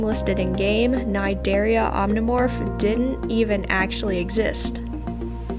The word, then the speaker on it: Cnidaria: creature in ARC, the Cnidaria. If you are unaware of how it's pronounced, the C is actually silent. But what I really want to say about it is that the Cnidaria isn't a specific name for a prehistoric jellyfish.